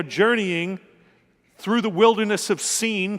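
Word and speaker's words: Sin: through the wilderness of seen thank you for saying seeing and not thin though it's spelled that way but I suppose there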